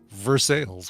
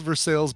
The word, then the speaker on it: Versailles: We're going to pronounce it Versailles with the heavy R.